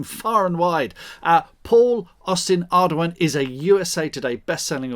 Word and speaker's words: Ardoin: Ardoin is my what I call my preferred mispronunciation because it's French and hard to say if you can't roll your R's and stuff.